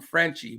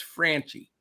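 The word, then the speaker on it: Franchy: Franchi Cordero, which the announcers were calling him Frenchie, but hey, I know what an A sound is and an E sound, and to me, it's Franchi.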